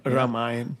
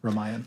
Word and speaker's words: Ramayan: Is that how you pronounce it? Ramayan. Ramayan. Ramayan.